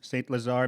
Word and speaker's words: St. Lazare: Yeah, St. Lazare, Manitoba.